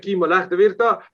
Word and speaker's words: Kimmo Lähdevirta: This is Kimmo Lähdevirta, Ambassador of Finland. This is his proper pronouncing of his name.